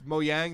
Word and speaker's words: Mojang: It's Mojang. There's no j sound, I believe, in Swedish, so it's a ja.